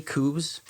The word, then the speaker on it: coups: Since independence, Camarus has endured more than 20 coups.